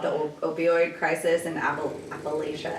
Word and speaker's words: Appalachia: opioid crisis and a Appalachia Appalachia people were telling me I was saying it wrong Appalachia I said appala Appalachia appala Appalachia I don't know say